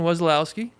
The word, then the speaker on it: Wesolowski: that's common um nice though and then Wesolowski is how you say your last name yeah weselowski U but but people say wesso people call